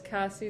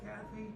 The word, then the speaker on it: Cassie: Oh no, maybe I should start spelling my name out because most people hear Kathy, Yeah. but it's Cassie. Cassie.